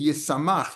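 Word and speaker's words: ישמח: Miksiv Yisamach, Yain Yisamach Levenosh. So it's written with a shin, and we pronounce it with a sin.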